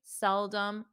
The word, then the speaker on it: seldom: dum dum um um so notice the the OM is not a strong om it's um um um seldom seldom seldom and the pronunciation of